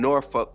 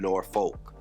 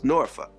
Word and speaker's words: Norfolk: to Virginia do this thing and it's in noruk Virginia that's how you pronounce it it's not Norfolk it's noruk that's so this is for later on in